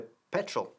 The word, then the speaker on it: petrol: Ojo con la pronunciación de petrol, porque se puede decir también petróleo en español, ¿no? Petróleo, con el énfasis que recae en la segunda sílaba. Nosotros enfatizamos, en cambio, la primera, petrol.